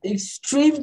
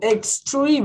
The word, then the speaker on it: extreme: So, extreme, eu pronuncio extreme, não é extreme. Extreme, ó, extreme. Lembra do X-Men? Tem o X-Men, eu falo igual.